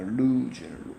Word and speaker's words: lose: 이거는 읽을 때요, 바로 이렇게 읽습니다. lose. 오 발음인데 우 발음이 나요.